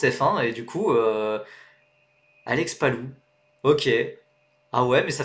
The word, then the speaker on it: Palou: Donc tu dis Palau, bah vous dites quoi? Vous dites Palou? Alex Palou? Je sais pas moi, en fait, moi, mon intonation, enfin ma prononciation de Alex Palau, ça vient de Alex Jacques. Ça vient de Alex Jacques qui commentait la GP3 en 2015 quoi. Palou? Bah oui, Palou, il est espagnol.